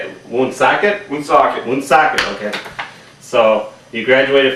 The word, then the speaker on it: Woonsocket: Woonsocket.